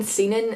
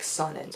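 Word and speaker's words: Seanan: is its own and because I kept saying seenin and everyone else says like saunas I think I've had her name wrong every video I've said it this is actually the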